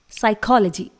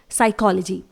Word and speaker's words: psychology: इसी तरह से अगला वर्ड है जिसमें S से पहले P आ रहा है, साइकोलॉजी, स्पेलिंग है PSYCHOLOGY। इट इज साइकोलॉजी। यहां पर भी P साइलेंट रहेगा, इसे हम प्रोनाउंस नहीं करेंगे।